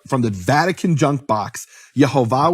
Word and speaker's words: Yehovah: Yhovah with the full vowels. That was known to be the pronunciation of his name.